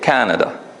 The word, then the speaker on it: Canada: in the word Canada we put it in the first syllable right you agree we say Canada but in French the